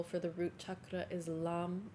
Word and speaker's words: lam: your root chakra visualizing red and the seed syllable for the root chakra is LAM l a m we're going to sing chant